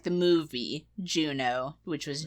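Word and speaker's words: Juneau: be the oh yeah Anchorage okay I put Juno I didn't even think of that one and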